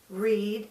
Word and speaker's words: read: But you might also notice that I pronounced read differently in the different tenses. In the present tense, read is pronounced read.